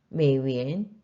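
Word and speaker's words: 美元: 그다음 환청 또 환청 환전하다 표현 보시고 메이는 삼성입니다. 위에는 이성이기 때문에 한 번에 발음하실 때는 삼성인 메로 내려갔다가 이성인 위엔으로 올라오시면 되겠습니다. 메위엔 메위엔 발음 유의하셔서 한 더 따라 읽으시면서 크게 따라읽겠습니다.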